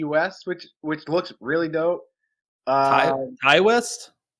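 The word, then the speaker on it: Ti West: Ty West? Oh, is that how you say it? Yeah, T West. That's his rapper name.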